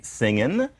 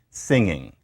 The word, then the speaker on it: singing: example we can say singing We can say singing now we're often told that singing is shorter than singing that a g has been dropped but if you think